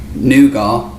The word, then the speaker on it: nougat: Well, we would say nugar because it's a French word and I'm definitely siding on our pronunciation being more accurate to the origins of that word.